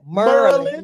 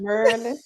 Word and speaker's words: Maryland: Merlin. Merlin.